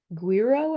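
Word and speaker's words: güiro: these are really cool it's a guiro I think is how you pronounce it they're uh little wooden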